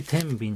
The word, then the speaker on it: 天平: 天秤とは天平と書いて天秤と読む。